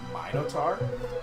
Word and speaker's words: Minotaur: Minotaur? Some people pronounce it that, some people pronounce it Minotaur.